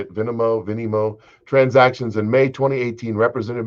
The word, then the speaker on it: Venmo: In two late night Venmo, that's how you say it, Venmo transactions in May 2018, Representative Matt Gaetz sent his friend, the accused sex trafficker Joe Greenberg, $900.